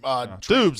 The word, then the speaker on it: Doubs: He's been great in Doobs. It's spelled like Doobs, right? Yeah, it's Doubs.